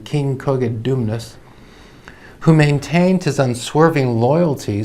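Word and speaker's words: Cogidubnus: a king in britain cogit dumbness i think might be the pronunciation of the name king koget dumnas who maintained his unswerving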